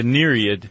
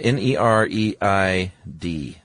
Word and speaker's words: nereid: creature called the nereid. Yes. I think I'm pronouncing that correctly. Yeah, n e r e i d. That e i is a tough transition.